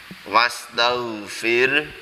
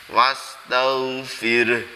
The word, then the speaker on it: wastaghfir: Tetapi lebih baik terhenti wastaghfir itu bacanya hanya itu di disukun jadi file tetap keluar huruf Hanya wastaghfir seperti itu ya santri semuanya